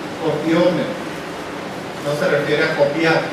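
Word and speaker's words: κοπιῶμεν: Es una palabra griega que se pronuncia copiome.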